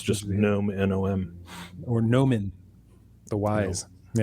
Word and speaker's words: gnome: used to be gnome or gnome as we pronounce it in his earlier drafts, and now it's just gnome, Nom, or Nomen, the wise.